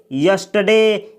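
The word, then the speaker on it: yesterday: यह जो शब्द है इसको यस्टरडे नहीं पढ़ा जाता है इसको पढ़ा जाता है यस्टरडे यस्टरडे यानी इस शब्द में आर का उच्चारण नहीं किया जाता है इसको बोला जाता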